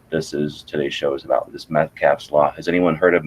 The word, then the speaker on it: Metcalfe: And that's sort of what today's show is about, this Metcalfe's Law. Has anyone heard of Metcalfe's Law before? No. No, I haven't. Spell it?